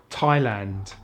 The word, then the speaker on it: Thailand: Sometimes the H is silent in TH, such as Thailand, time, asthma, Thomas, and the Thames, as in the river in London.